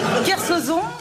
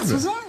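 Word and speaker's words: Kersauzon: Kersozon. Ah bah Kersozon. C'est Kersozon. incroyable. Kersozon.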